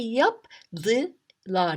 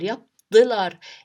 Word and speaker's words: yaptılar: to put the DI, I say yaptılar, yaptılar. It's heavy. This is vowel harmony in Turkish. So it's a little bit heavy. It's to pronounce. Yaptılar, no. So yaptılar, try it now. Yaptılar, easier.